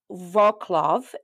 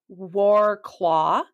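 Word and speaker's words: Wrocław: I totally recommend is called volklav it looks like it's spelled war claw and this city has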